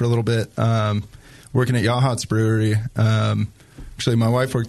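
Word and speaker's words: Yachats: You mentioned Logston, Yahats, is that how you say it?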